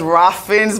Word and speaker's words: Ralph Fiennes: You know, I actually only realized how to pronounce Ralph Fiennes. I thought it was Ralph Fiennes my entire life.